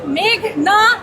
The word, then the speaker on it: মেঘনা: আদালতে এসে শুনি পিপি বলছেন মেঘলা আলম। আমার নাম মেঘনা আলম।